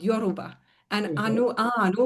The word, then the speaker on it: anu: anu with a long A means mercy in their language.